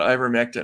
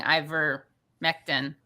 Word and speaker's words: ivermectin: i don't give a about ivermectin i just don't think it should be censored